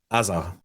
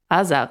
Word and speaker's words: Azar: Okay, so how do you pronounce Azar with an Israeli accent? Azar. Azar.